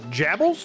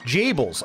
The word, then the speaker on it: Jables: Like cables. Jables. Okay. Got it. Lord Captain Jables.